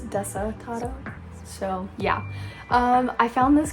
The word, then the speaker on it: Desatado: I'll be honest, I thought it was Destado for the longest time, but it's Desatado.